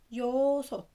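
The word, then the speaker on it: 여섯: رقم ستة يوسط يوسط يوسط. اتفقنا ان حرف الانج لما بيجي في البداية ما بينطقش، فقلنا يو حرف الفاول اللي بعديه يو، وبعديها صوت برضو حرف استا جاي تحت فبينطق تا فبنقولها يوسط، يبقى هانا تو سيت نيت تا صوت يوسط.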